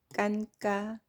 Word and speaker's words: 尷尬: 바로 앞에 있는이 글자입니다 자 중국어 발음을 먼저 해 볼까요 깐따 깐따 예 깐가지 있니다 근데